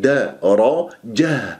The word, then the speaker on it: درجة: لأنها مفتوحة وهذا خطأ، الراء هي فقط المفخمة في كلمة درجة وليس درجة، لا درجة درجة، وشوف كيف